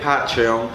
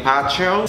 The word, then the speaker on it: Patreon: más, pues búsquenme en Patreon. Se escribe P-A-T-R-E-O-N, es como en español decir patrón.